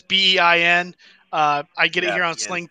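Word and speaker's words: beIN: have been on the I guess is pronounced the bien Network I know it's bei n I get it around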